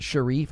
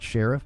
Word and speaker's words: Sharif: I believe it's pronounced Sharif. I think that's how you pronounce it. Not Sheriff, but Sharif, I believe.